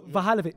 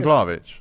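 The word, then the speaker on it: Vlahović: Oh, Vahalovic. Yeah. Vahalovic. For me, Isaac's cold. You mean Vlahovic?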